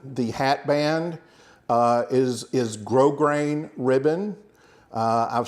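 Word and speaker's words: grosgrain: looks like gross grain but it's pronounced grow grain and that means it's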